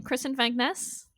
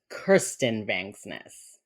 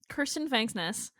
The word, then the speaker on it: Kirsten Vangsness: Kristen Vangsness? It's Kirsten Vangsness. Kirsten Vangsness.